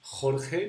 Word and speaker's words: Jorge: Khan like my name we say Jorge because because we pronounce the J this way so Joe is the